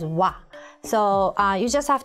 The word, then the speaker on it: は: this with a but even though the character itself is ha you pronounce it as wa so uh you just